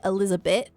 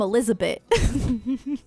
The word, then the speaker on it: Elizabeth: Like I said, my my grandma was from Elizabeth. Like that's that's like North Jersey. Um and she would pronounce it Elizabeth. Like she wouldn't pronounce the th. She'd be like, "I'm from Elizabeth."